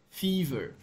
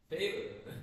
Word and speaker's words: fever: Fever. Fever. How do you say it? In the past, I say favor. Favor. No, then it sounds like a favor, like this, you know, favor?